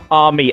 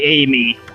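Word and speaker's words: Ammy: Ami. Again, Amaterasu, so it should be pronounced Ami. But, you know, it's hard not to just say Amy.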